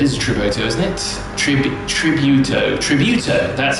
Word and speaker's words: Tributo: Tributo, that's how you say it.